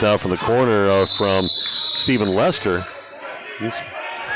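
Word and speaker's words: Stephen: And they start right out with a nice three-point attempt out from the corner from Steven Lester. He's Stevens spells his first name just like I do.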